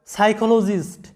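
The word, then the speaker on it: psychologist: এরপরে দেখো সাইকোলজিস্ট, এখানে লক্ষ্য করো যে প্রত্যেকটা শব্দে সিএইচ এর উচ্চারণ কিন্তু ক এর মতো হচ্ছে, কিন্তু কেন ক এর মতো হচ্ছে সেটার কোনো রুলস নেই।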